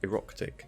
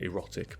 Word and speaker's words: Eroktic: by a guy called Eroktic, and it's really hard to say his name without just saying erotic, but it's Eroktic.